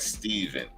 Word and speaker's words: Stephen: Zaid said it's pronounced like Steven. So Stephen pronounced like Steven.